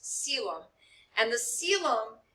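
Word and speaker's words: coelom: cavity called acila looks like it should be kobilum but that's actually pronounced selem and the ceilum it's it's actually um if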